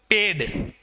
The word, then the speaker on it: पेड़: इस प्रकार से इसी प्रकार से ये देखिए अगर मैं इसके नीचे नुक्ता नहीं लगाता हूं। इसके नीचे यहां पे नुक्ता का प्रयोग नहीं करता हूं। तो अभी इसका प्रोनंसिएशन किस प्रकार से होगा? पेड। पेड। और अगर मैंने इसके नीचे नुक्ता लगा दिया लगेगा तो इसका उच्चारण होगा पेड़ मींस ट्री।